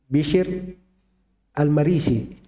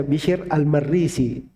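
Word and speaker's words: بشر المريسي: Bisyir Almarisi. Begitu bacaan benarnya ya. Kan sering ada yang membaca bisir Almarrisi atau almirrisi. Nah, itu keliru itu cara baca itu.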